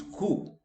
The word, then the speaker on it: coup: So it is not coup, it is coup.